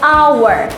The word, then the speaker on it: hour: dia tidak pakai hour memang tulisannya hour ya ada hanya ya di depan ya tapi untung bacanya itu langsung dari O jadi hanya itu silent tidak usah dilafalkan our karena dia dimulai dari